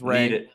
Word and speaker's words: Rea: That is Ray. I checked the pronunciation.